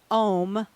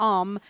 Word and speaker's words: Om: yoga the word aam om the way you say that either om or um is often chanted and